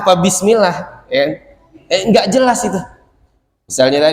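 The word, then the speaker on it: بسم الله: atau misalnya bapak-bapak sering dengar ada yang ngaji bacanya gillill bismillah itu yang dia baca wiismillah mismillah apa bismillah ya enggak jelas itu misalnya tadizubillahinyaitirim bismillahirah bismillah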